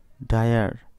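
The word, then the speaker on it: dire: এই জায়গায় খেয়াল করবে আই আর ই এই তিনটি এর ক্ষেত্রে যদি বর্ণ তিনটি ওয়ার্ড এর শেষে থাকে তবে এর উচ্চারণ আয়ার হবে।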